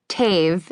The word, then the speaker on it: Tave: Tave. It rhymes with cave, not mauv, but it never sticks.